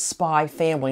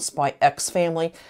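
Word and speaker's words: Spy×Family: I found it as spy family not spy ex family the X in the middle is not supposed to be pronounced it's kind of like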